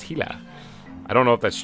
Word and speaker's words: Gila: like carrots and stuff the gila monster which apparently the comment section told me is pronounced hila i don't know if